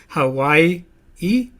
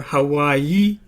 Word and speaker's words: Hawaii: the debatist you spell do you pronounce it Hawaii e or Hawaii people do it both ways and the value of